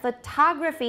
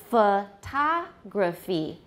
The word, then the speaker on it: photography: noun but the sh the stress has shifted to which syllable the second diplomat diplomacy photograph photography and the vowels change as well photograph photography this the unstressed syllables in both cases become schwas but they're different syllables monotone now in the